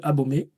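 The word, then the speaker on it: Abomey: Abomé euh ça veut dire euh au sein des fortifications parce que la bonne prononciation c'est abomé. Ça c'est difficile à prononcer mais abomé.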